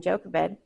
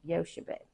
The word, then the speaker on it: Jochebed: And then Jochebed, mother of Moses. I think that's pronounced Yoshebed.